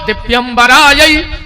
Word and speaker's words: दिव्यराय: शिवाय च नमः शिवाय जो मंत्र गलत होगा शुद्ध उच्चारण का है दिव्यरा दिगंबराय दिव्यराय दिगंबराय यह भगवान शिव और माता